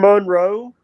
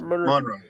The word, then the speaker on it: Monroe: you say you're from Monro Louisiana I well we're close I'm about 45 minutes from Monro that's Monro not mon the only thing is